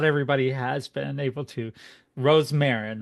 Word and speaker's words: Rosmarin: again I I I've always been able to pronounce it but not everybody has been able to Rose Marin right that is correct okay all right cool